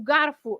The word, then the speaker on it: garfo: the O at the end is always pronounced as the sound U.